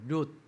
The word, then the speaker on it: 가룟: 근데 오늘 우리는 가론 유다 류인데 발음이 잘 안 돼요. 롯 요인데요. 발음은 롯으로 되죠.